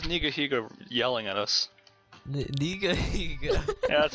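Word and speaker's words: Nigahiga: Niga Higa? Yeah, that's how you pronounce it.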